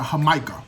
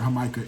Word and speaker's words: jamaica: first of all to drink i had a hamaika right spell jamaica but they pronounced it hamika it's hibiscus agua fresca so like hibiscus tea